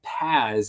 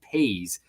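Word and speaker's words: Paze: basically said that yeah, it's not Paz, it's pronounced Pays, and so I thanked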